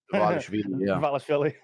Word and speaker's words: Dvalishvili: Is it Merab Dvalishvili? Dvalishvili. It's Georgia. You and your name mispronunciations.